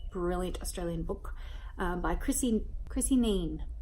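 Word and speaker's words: Kneen: Next up, I read another brilliant Australian book by Chrissy Neen. I think it's Chrissy Neen. I'm assuming the K is silent.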